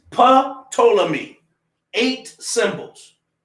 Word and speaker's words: Ptolemy: they say it's not patolli me because the p is silent that's what hold up man so under the greek it's pa ptolemy eight symbols right the